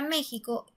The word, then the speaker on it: México: Ahora, en el siguiente ejemplo tenemos la palabra México y marcamos que está en la sílaba me.